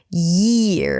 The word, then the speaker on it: year: And by the way, notice the R sound at the end, year, that it doesn't start too soon.